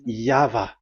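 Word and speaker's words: Yahweh: is the phonms the pronunciation pronunciation is equal V. It is V. Y H VH. So it is Yava.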